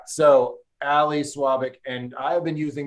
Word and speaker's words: Svabik: Svabik. So the V is pronounced like a W. Svabik.